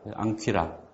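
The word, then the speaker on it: ἄγκυρα: 그래서 앙이 발음나고 퀴라, 앙퀴라.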